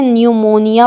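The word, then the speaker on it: pneumonia: silent रहेगा जैसे newmoneia इसको हम पी यहां पर नहीं पढ़ते हैं न्यू मोनिया पढ़ेंगे जिसका अर्थ होता है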